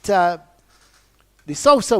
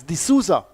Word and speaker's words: De Sousa: Well, he's being pronounced, his spelling is S-O-U-S-A, but it's being pronounced, I understand, as De Sousa. So even though it's S-O-U-S-A, it's De Sousa.